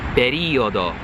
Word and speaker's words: periodo: Periodo, periodo. Tight E. Periodo.